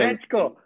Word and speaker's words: Srećko: Srećko. I think I also pronounce your name okay, no?